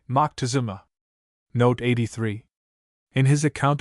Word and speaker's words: Moctezuma: It may be said that some of the latter pronounce the title Mo. One of our philologists speaks of Montezuma, or more correctly, Mo Tecazoma. Note 82. Another authority says Montezuma, or more correctly, Moctezuma.